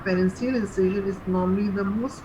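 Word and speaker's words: Pfannenstiel: So that is called pharyngeal incision. P is silent here.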